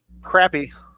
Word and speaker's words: crappie: Sonny Richard C wants to know, what about crappie or bass?